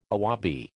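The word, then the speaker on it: あわび: What is its Japanese pronounce? Awabi.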